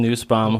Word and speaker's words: Nussbaum: So we have Nussbaum, is that how you say it? Yep. Nussbaum, who as of a month ago, month and a half, won the Cabelas NWT over in Devil's Lake.